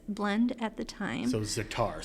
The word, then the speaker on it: za'atar: So za'atar, spell that for Za'atar. us. So it's Z-A''ATAR. Oh, so like Za'atar.